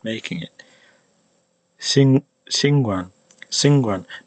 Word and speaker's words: 𐍃𐌹𐌲𐌲𐍅𐌰𐌽: Singwan, Singwan. Now here we finally get to the one that I actually recommend. This is how you pronounce it.